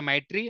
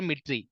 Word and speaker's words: MITRE: So some of the people, they will call it as a MITRE, and some of the people, they will call MITRE, but both are same. MITRE or MITRE attack framework